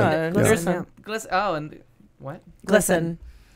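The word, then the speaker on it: GLSEN: So it's split between two Glisten. Charities. Okay. Glisten. And Glisten. Yeah. And what? Glisten. Gay, spelled G-L-S-E-N. Glisten.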